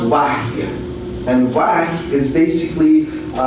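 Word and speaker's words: وحي: It's not wahi. It's pronounced wahy.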